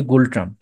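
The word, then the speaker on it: Ngultrum: মুদ্রা হচ্ছে গোল্ড ট্রাম্প এন দিয়ে শুরু বাট উচ্চারণ হবে গোল্ড ট্রাম্প ওকে এবং এদের ভাষাটা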